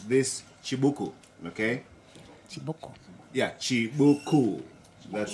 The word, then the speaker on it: Chibuku: Yeah, Chibuku. That's how we pronounce it.